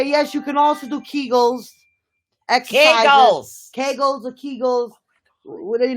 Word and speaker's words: Kegels: Which one? Kegels. Like cake.